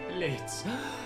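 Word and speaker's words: Blitzø: It's Blitz. It's Blitz. Oh, didn't it have an O at the end? Like a clown name? I remember... The O is silent.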